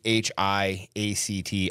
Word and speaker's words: Archiact: Archiact. Spell it. ARCHIACT.